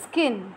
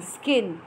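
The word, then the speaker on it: skein: will be the pronunciation you can say it as skin but it will the spelling will be s k e i n skin okay a group of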